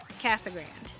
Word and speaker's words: Casa Grande: to bring it yes we know it's supposed to be casa grande but everybody calls it casagrand i think it's except for the hispanic community they pronounce it correctly correct i think it